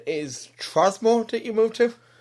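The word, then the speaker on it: Tromsø: And it's am I right in the pronunciation is Trzmo that you move to? Trumso.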